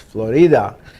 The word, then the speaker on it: Florida: called Florida spelled just like Florida but it's pronounced Florida and that's where all your big pharmaceutical company